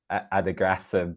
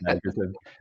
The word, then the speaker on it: adagrasib: what we call it, because I am pronouncing it differently, I think, to our American colleagues who say sotorasib and adagrasib, but those are very hard inflections. I think it trips off the tongue to say adagrasib.